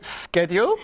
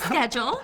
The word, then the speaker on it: schedule: Did you say schedule? Yes, schedule. Oh, we say schedule. Schedule, what an SH sound?